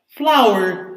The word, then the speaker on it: flower: Flour is the same pronunciation as flower, as the plant, right? For example, roses, they are flowers, right? In this case, the pronunciation of flower and flower is the same. There is no difference.